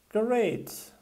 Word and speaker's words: great: Great. Great diye yazılan kelime. Great. Çünkü 8 kelimesi rakam olarak İngilizce'de 8 diye okunuyor, değil mi?